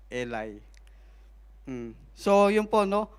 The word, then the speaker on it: Eli: Yung high priest po noon, ang pangalan po niya ay Elay or Eli. Pero agag pinakinggan niyo po sa audio bible, ang pronounce nila is Eli.